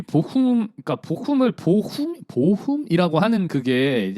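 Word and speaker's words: Bochum: 보춤 아닙니까? 보춤? 복염이죠? 파우에펠 파우에펠 복염이죠? 보첨 아닙니까? 보첨? 아무튼 네. 네. 정확한 발음은 이제 보훔입니다. 보훔. 네, 보훔.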